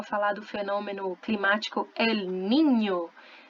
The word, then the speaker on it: Niño: do fenômeno climático El Niño, Ninho, ou então, né, o outro fenômeno climático, La Niña. Ninho, ninha, menino e menina se escrevem com a letra N, que tem som de NH, ok?